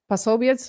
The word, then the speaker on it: Posobiec: And now there is also allegedly could be trouble for TPUSA because Andrew Colvett, Jack Pasobiec, I think that's how you say his name. Yeah, Jack They said Posobiec, this yeah.